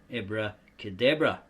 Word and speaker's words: abracadabra: or in the English language as if written ob-re-cor de ob-ro.